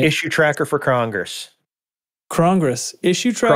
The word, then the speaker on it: crong-gress: I got a crong-gress. I had to put a hyphen in it to make sure people pronounce it right.